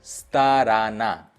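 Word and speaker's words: сторона: Stress कहाँ पे है? लास्ट ए पे है, दोनों ओ पे ही नहीं है, तो स्ताराना, स्ताराना।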